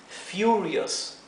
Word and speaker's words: furious: furioso I'm Furious Furious recuerden acá tenemos una vocal seguida de una consonante y otra vocal más entonces esta vocal en este caso la u adquiere la pronunciación larga entonces la u no se pronuncia e ni u se pronuncia u por esoo esto se pronuncia Furious Furious bien I'm Furious